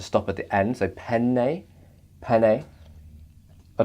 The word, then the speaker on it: penne: done having a go it's pronounced penny it is a pasta ok penne alright well